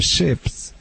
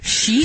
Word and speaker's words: sheep: She needs to smell similar to the pack of the ships. I don't know how to pronounce it. You do sheep?